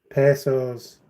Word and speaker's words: pesos: is the Mexican currency pesos is that how it's pronounced I've saying it wrong all these years yeah I've been saying Mexican Pedas instead of Mexican P what